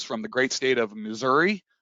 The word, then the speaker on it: Missouri: the great state of missouri or if you want to pronounce it right missouri and it's the show